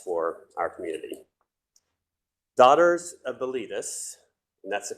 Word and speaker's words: Bilitis: Daughters of Bilitis, and that's the correct pronunciation of it. It often is pronounced Bilitis. It's Bilitis.